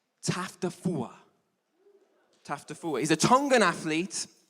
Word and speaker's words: Taufatofua: It's, let me say it right, TAUFATOFUA.